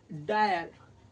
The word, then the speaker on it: dire: যেমন DIRE, এই যে ডি আছে এখানে IRE আছে শব্দে, তাহলে IRE কি হয়? আমরা কি বলবো? ডায়ার, ডায়ার।